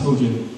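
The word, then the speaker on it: Hoxha: I know it wasn't Hoa, but it's pronounced Hoja.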